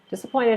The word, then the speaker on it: disappointed: excuse me so disappointed disappointed has four syllables disappointed and the stress is on the third one this uh pointed